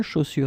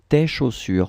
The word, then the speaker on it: chaussures: Chaussures, it's plural because you get two, and then you should definitely use this plural form tes chaussures. Remember, final S, chaussures, you don't pronounce it.